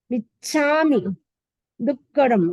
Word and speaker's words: मिच्छामि दुक्कडम: सावग धम्मस जंखंडियम जमखंडियम जमविराहियम जमविराहियम जो में देवस्यो अय्यारो कौ तस्स मिच्छा मिच्छामि च और छ डबल है, मिच्छामि दुक्कडम, डबल का है, दुक्कडम दुक्कडम।